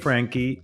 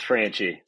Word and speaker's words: Franchi: at sales boomerang and my guest is frankie president at gold star mortgage did i pronounce the last name right uh close it's franchie oh look at me look at me yeah